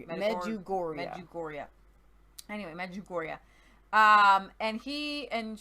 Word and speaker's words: Medjugorje: Just say Gore. It's never Jor. It's always Gore. Like Medjugorje. Medjugorje.